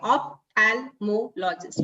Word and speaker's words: ophthalmologist: So the trick is whenever you have a long word, try to break it as per the syllable and then try to pronounce it. So ophthalmologist, ophthalmologist.